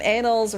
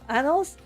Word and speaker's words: annals: I always assume anals rhymes with apples. Anal apples. Annals. Apples. Apples. Annals. Annals. Oh, like that. Annals.